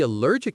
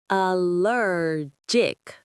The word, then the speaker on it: allergic: The pronunciation is allergic. Allergic. The stress is on lur.